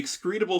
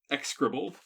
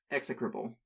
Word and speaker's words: execrable: This one's called the Excretable Shrub. Gross. I'm sorry, mispronounced. Execrable. Execrable.